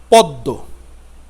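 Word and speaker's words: পদ্ম: যাচ্ছে প দয়দ পদ্য পদ্ব পদ দয়করদ পদ্ব এখানে কিন্তু ম এর কোন উচ্চারণ নেই এইভাবে সাধারণত উচ্চারণগুলো আমাদের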